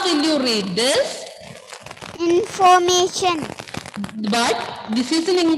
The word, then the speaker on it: information: Information.